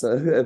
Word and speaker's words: Fuchs: Is it Fuchs or is it Fuchs? You know, Fuchs. Fuchs. Fuchs. Fuchs. It's the fox. Yeah, it's it's the animal. Yes, yes, yes.